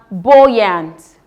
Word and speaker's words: buoyant: We have buoyant. Buoyant. We have boy. B O U Y is pronounced boy.